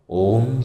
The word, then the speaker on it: ওম: আর এই ওয়ের উচ্চারণ পেট থেকে, অয়ের উচ্চারণ গলা থেকে, আর ময়ের উচ্চারণ মাথা থেকে হবে।